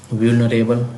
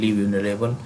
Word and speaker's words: vulnerable: पहला वर्ड है व्यूलनरेबल, VULNERABLE व्यूलनरेबल। Susceptible, इस तरीके से आपको प्रोनाउंसिएशन पे भी ध्यान देना है, तभी आपको मीनिंग कन्फर्म होगी।